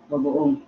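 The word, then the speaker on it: bagoong: Bagoon.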